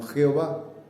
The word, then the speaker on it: Jehová: que no tenían vocales al introducirle las vocales pues podemos pronunciarlo como joey llave en castellano jehová entonces todas las veces en